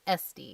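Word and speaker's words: S'te: But Esty is the letter S apostrophe Te. Yeah, it's a unique name, but it is definitely pronounced Esty.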